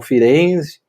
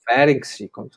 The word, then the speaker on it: Ferenczi: O primeiro a falar mais abertamente, além do Freud, que cita poucas vezes, foi o Firenze, né? O Ferenczi, dependendo da maneira como quiser pronunciar. Então, é um assunto que